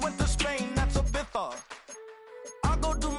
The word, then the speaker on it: Ibiza: Yeah, it's pronounced Ibiza, actually. Yeah.